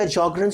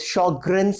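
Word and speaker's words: Sjögren: found in some other patients so initially the shokran Sjogren's syndrome the correct pronunciation for this is Sjogren's syndrome so this Sjogren's syndrome initially it was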